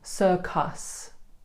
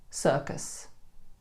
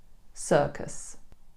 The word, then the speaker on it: circus: Many people would make the mistake of saying circus, circus, because of that U in there. But actually, we replace the U with Schwa. So the natural pronunciation is circus, circus.